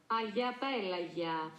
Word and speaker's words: Agia Pelagia: Agia Pelagia.